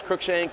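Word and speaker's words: Crookshank: my last name is crook shank um it's pronounced like crooked or crook shank so yeah I kind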